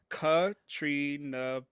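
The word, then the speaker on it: Caitríona: It's Katrina Balfa. Katrina Balfa. Katrina Balfe? Okay. Much easier, but certainly not how it's spelled, right?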